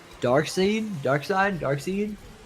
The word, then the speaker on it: Darkseid: kill I think it's Darkseid Dark Side Darkseid I would assume Dark Side dark side but it's spelled c it's spelled s-e-i-d yeah it's still dark side you like let's call